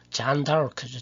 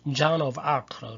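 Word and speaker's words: Jeanne d'Arc: 대표적인 게 잔 다르크죠. 잔 다르크. 미국 사람은 John of Arc라고 그러죠.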